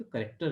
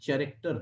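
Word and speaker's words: character: में आ गई होगी कि करेक्टर प्रोनाउंस करते चरेक्टर नहीं ध्यान रखना करेक्टर पढ़ेंगे इसको ठीक है लेटर पढ़ेंगे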